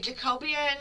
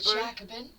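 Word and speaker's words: Jacobin: I always say it wrong. A Jacobian. Um, newspaper. Jackaban. Jackaban. Jackaban.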